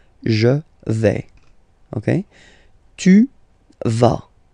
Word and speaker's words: vas: Okay, tu vas. Same thing here, final S not pronounced.